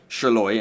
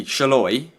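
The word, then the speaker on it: Sallai: hungary's left back's name I think it looks the same as shaloy and I know that's how you pronounce his name because I remember he scored against us at Wembley and that's how the announcer said his name so that's how I think you say shaloy Roland shaloy but I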